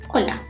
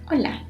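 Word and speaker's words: Hola: letter in the word it is not pronounced it's completely mute so Ola Ola and we can use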